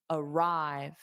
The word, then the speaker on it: arrive: So the sound is da arrive not dada arrive.